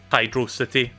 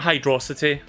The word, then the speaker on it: Hydro City: acknowledges its hydro city it's not hydrocity i'm just going to say that now that's my hot take of the stream it's hydro city zone not hydrocity let's